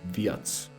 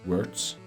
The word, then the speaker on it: Wirtz: I can't wait to watch more of Wirtz or Viats. But I'm honestly, I love pronouncing it in English, Wirtz, rather than Viats.